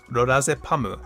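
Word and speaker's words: ロラゼパム: Apparently, she took it from the drug lorazepam, which is pronounced as lorazepamu in Japanese.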